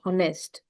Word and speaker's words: honest: I will not say honest. I will say honest. When I'm pronunciating honest. So over here, it is giving a vowel sound, and hence I will be using an instead of a.